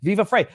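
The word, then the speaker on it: Viva Frei: of the channel because people were going to mispronounce it. Viva Frey. They're going to think I'm a woman named Vivian, whatever. I don't either. I couldn't care less. Growing up, I got free heat, free height, fry heat.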